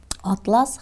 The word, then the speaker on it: атлас: Так же примером к этому могут быть слова кАрта и картА(передняя часть желудка жвачных животных), Атлас и атлАс. Безусловно, при использовании заимствованных слов большую роль играет ударение.